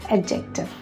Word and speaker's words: adjective: The next commonly mispronounced word is adjective. This is a word that normally beginners use while learning grammar. The word is not adjective, not adjective, it's adjective.